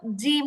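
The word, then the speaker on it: ج: আগা ব্যবহার হবে না জিবার আগা ব্যবহার করলে এটা বাংলা বর্গীয় জয়ের মত জিম হবে পাতলা হবে এরকম হবে না ঠিক জিহবার মাঝখানটাই উপরের তালো সঙ্গে লাগাইতে হবে জিম জিম জিম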